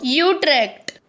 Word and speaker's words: Utrecht: a dutch guy saying you trek for god's sake how do you say it i know it's not bad utrecht okay that's probably right that's it that's the one that's the official pronunciation good luck sorry netherlands